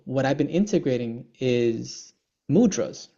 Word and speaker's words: mudra: It's not mudra, it's mudra. The is a soft.